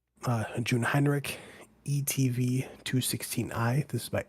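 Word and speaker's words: Jungheinrich: So, it's actually it's actually pronounced Jun Hinrich. Uh, Jun Hinrich ETV 216i.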